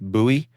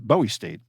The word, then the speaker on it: Bowie: We've got another town uh not far from here that's pronounced buoy. Buoy, but it's spelled Bowie like David Bowie.